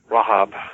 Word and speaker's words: Rahab: name is rhea amor Rahab is the jewish pronunciation and she helps them